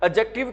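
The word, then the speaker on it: adjective: एडजेक्टिव बोल देते हैं ध्यान रख लेना जहां पर भी बच्चों कौन सा वर्ड इकट्ठा आ डी जे ठीक है वहां पर है ना डी की साउंड क्या होती है साइलेंट होती है ठीक है तो आपने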